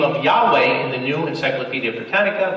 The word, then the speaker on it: Yahweh: babe was never lost the name was pronounced Yahweh it was regular pronounced